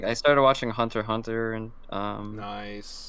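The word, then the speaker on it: Hunter × Hunter: it I love you you don't say the X it's it's pronounced hunter hunter yeah I don't see that I say hunter x hunter yeah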